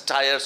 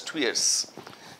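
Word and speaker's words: tuyeres: Furnace these are twiers they're written as tires or something like that but they're pronounced as two years just when you throw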